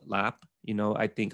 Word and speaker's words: larb: what's called what's called lap you know i think a lot of people when they go to a thai restaurant it looks like it's pronounced larb um oh yeah yeah